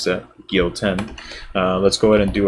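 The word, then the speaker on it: Gyoten: That is how you pronounce that, Gyouten.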